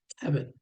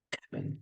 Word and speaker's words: Khavn: Ang spelling ng pangalan niya, Khavn. So if you look at the H, you should say Kevin. Kevin. Dapat ganyan pag-pronounce, no?